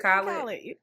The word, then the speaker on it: Khaled: I say his name wrong. They make fun of me. How you say it? I said Khaled.